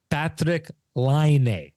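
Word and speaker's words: Patrik Laine: But the Finnish language, the punctuation is always on the first symbol or a syllable, always on the first syllable. So it's Patrick Laine is what it is.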